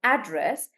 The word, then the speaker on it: address: So if you're talking about somebody's somebody's physical address like the postal address then you can pronounce this as address and then you pron pronounce the a sound the long sound address like that.